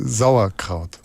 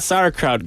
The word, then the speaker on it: Sauerkraut: you so it's not sarut guys it's Zar exactly the S is like a bit stronger yeah it's very difficult